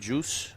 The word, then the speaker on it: Juste: Um so, I don't know if it's like the juice is loose juice or the T is silent or not.